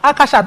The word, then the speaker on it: Akashat: I took a lifetime of fight and correct to say, it's Akashat, not Nimota.